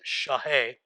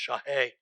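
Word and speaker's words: שחה: The Hebrew word is shaheh, and it looks like Sahat, but it's pronounced shaheh.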